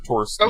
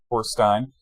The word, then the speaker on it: Torstein: That's a 13 for Torstein. Okay. Torstein. There's really not a set pronunciation. It's either Stein or Steen, whichever you prefer.